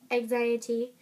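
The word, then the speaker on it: XIAT: Okay, and the last question is, can you sing a part of X-I-A-T, pronounced anxiety, which sounds like anxiety, by Trevor Moran?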